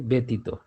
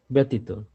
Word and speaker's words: ব্যতীত: যখন কি কি কোন জায়গায় চেঞ্জ আসতেছে আমরা দেখতেছি, ব্যতীত, ব্যথা, জ ফলা আছে কিন্তু উচ্চারণের সময় আকার যুক্ত হয়ে কিন্তু হচ্ছে, ব্যতীত।